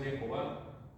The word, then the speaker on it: Jehová: Y es que el hebreo antiguo no tenía vocales. Entonces por eso no se va a acabar esa lucha entre que si es Yahvé o es Jehová. Porque, o sea, sí se pueden poner las letras, pero ellos le añaden las vocales de Adonai y de Elohim, y nosotros la pronunciación samaritana, ¿no?